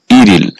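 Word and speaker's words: 일일: আর এই শব্দটার সঠিক উচ্চারণ হবে ইরল।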